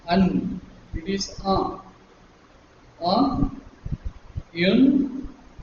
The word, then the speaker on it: un: Now, remember this un is pronounced as un. It's only nasal n and not un.